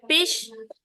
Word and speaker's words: peach: Se dice peach, 19. ¿Cómo se dice, Lorena? Which Peach. one? Peach. 19. 19 is peach. Peach. Peach. Peach. Not peach. It's not an S. Peach. Peach. No, it's sh. It's ch.